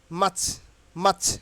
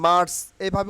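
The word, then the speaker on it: March: এর আগে বলেছি তাইলে এখানে মাচ মাচ উচ্চারণ করবেন কি মাচ R will be silent hair মার্চ আমরা আগে উচ্চারণ করতাম কি মার্চ এভাবে উচ্চারণ হবে না মাচ মাচ ওকে ঠিক এভাবে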